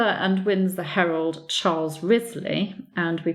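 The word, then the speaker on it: Wriothesley: morning but chronicler and wins the Herald Charles Risley and we pronounce it as Risley or Rhys lead not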